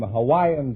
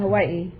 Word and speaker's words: Hawaii: yours no innuendos from you we invited some Hawaiian dancing girls to the program tonight now you're